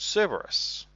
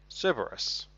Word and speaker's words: Cerberus: Because you can find a sniper rifle called Cerberus or Cerebrus, however you want to pronounce it. I personally say Cerberus.